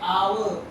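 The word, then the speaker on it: hour: The word our, even though the our start with letter H, right? Right, letter H, but the H is silent. Okay, silent H, meaning that our.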